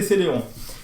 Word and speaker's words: Celeron: Bon, ça, je sais que Celeron, c'est Celeron.